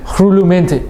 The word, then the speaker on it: Rhulumente: How do I pronounce the word? I don't want to make a fool of myself, bro. Rhulumente. Yeah, Rhulumente.